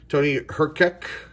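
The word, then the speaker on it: Tony Hrkac: pleasure to play announcers here for the Penguins Tony her kick that's how you say his name Paul MacLean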